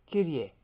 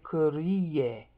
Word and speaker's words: Kyrie: Kyrie. Two syllables. Kyr is how they do it in the modern. Kur is how they'd have done it in the old days.